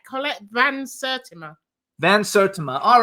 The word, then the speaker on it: Van Sertima: It's quite quite funny hearing you trying to pronounce it, but your initial pronunciation was correct. Colette Vans Certima.